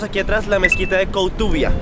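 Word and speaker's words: Koutoubia: atrás La mezquita de cotuvia así lo pronunciaríamos digamos en castellano pero no sé cómo se diría en árabe esta mezquita tiene la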